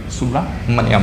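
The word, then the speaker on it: Subrahmanyam: तो chief minister कौन है, BVR सुब्रमण्यम, BVR, ठीक है, सुब्रमण्यम, ठीक है, सुब्रमण्यम, स्पेलिंग पे मत जाइएगा, ठीक है, सुब्रमण्यम है, ठीक है, BVR सुब्रमण्यम, ये आपको ध्यान रखना है।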